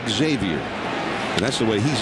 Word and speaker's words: Xavier: Nady says that the proper way to say his name is Xavier, but, and it's a name that goes way back in the history of his family, a couple of hundred years.